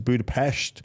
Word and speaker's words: Budapest: some traveling went to Budapest which is Budapest budapes yeah that's how they say it is say yeah it's not it's it's it's a thing about pronunciation of the Hungarian language which I uh Budapest budapes yeah it's like balona balona um there's a pronunciation of yeah by the by the locals um so I'm just